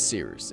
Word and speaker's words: Cyrus: My name is Seeroost. It's spelled like Cyrus, pronounced like sea rooster, just take out the ter.